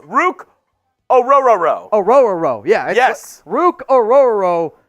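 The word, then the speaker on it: Orhorhoro: It's Rook Orororo. It's, yep. You're pronouncing the O at the begining, and then it's 3 row.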